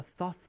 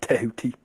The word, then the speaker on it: Thoth: hey Bill, does that mean we're the Thoth Patrol? No. Because as I've stated 100 times before, it's pronounced Tehuti.